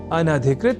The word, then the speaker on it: अनधिकृत: तो यह शब्द अनधिकृत इस रूप में ही है। सर्वथा शुद्ध।